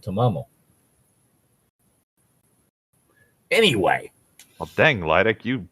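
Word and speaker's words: Tamamo no Mae: because for some reason I said ptomaine when I should have said to mama'll anyway I'll thing lytic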